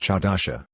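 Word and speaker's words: חדשה: In Hebrew it is pronounced chadasha, defined as new or fresh.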